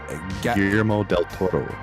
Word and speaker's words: Guillermo del Toro: Strain, written and directed by, how do I pronounce that last name? Guillermo del Toro.